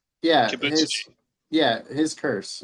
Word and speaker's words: Kibutsuji: Ibutsuchi? Yeah, Kibutsuji.